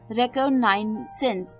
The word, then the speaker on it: reconnaissance: इसी के बाद जो 10th वर्ड है शाम का, थोड़ा सा अटपटा है, प्रोनाउंसिएशन थोड़ी सी मुश्किल लग सकती है आपको. रेकोनाइसेंस, रेकोनाइसेंस, रेकोनाइसेंस, RECONNAISSANCE, रेकोनाइसेंस, रेकोनाइसेंस, रेकोनाइसेंस, RECONNAISSANCE, रेकोनाइसेंस